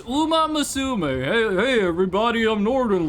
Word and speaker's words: Uma Musume: have like perfect pronunciation, but with how huge Umaisimma has been, you would think at some point people would be like, "Hey, here's actually how to pronounce it." Any servers down? Okay. Like just just Google how to say horse daughter in Japanese. I guess horse young woman. Uma Musum.